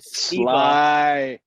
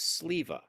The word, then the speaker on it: Sleva: I said Sliva. That's what I said, and he corrected me and said it was Sleva. Oh, I guess it is Sleva.